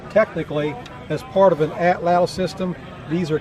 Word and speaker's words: atlatl: All right, so this, I've heard these called atlatls and all kinds of different things, but the word is spelled A-T-L-A-T-L.